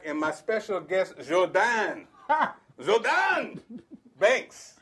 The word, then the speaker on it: Guordan: Guordan Banks.